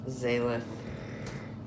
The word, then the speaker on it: Xalyth: Zalith. Toss is her last name. Because it would be pronounced like a Z, but it's Zalith.